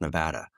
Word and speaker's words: Nevada: It's pronounced Nevada.